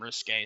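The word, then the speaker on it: risqué: Well, risky is a different word though. Like risky is like doing something risky. Risque is meant to be like, you know,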